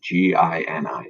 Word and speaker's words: Gini: So that's how you pronounce Gini, the Gini coefficient.